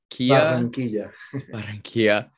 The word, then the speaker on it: Barranquilla: Barranquilla. Barranquilla.